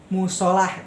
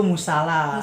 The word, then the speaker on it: musala: tidak baku Contohnya kayak kita tahu nih musholah kan biasanya generasi sekarang nyebutnya Mushola Iya kan Iya nah yang betul itu musala salah betul menjadi Baduy